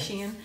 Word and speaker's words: Sheahan: With You should know how to pronounce my last name. Sheahan.